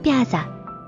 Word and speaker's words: Pyaza: 今日は玉ねぎをたっぷり使ったマトンドピアザを作ります。インド風に発音するとマトンドピアーザ。